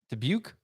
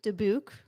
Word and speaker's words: Dubuque: let me see it dubuque it looks like dabouk dubuque iowa nitro tour